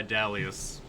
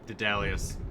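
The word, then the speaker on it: Daedalus: wax wings made by dalius or de dallius depending on how you pronounce it but now we can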